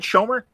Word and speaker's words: Schomer: Am I saying it right, Schomer?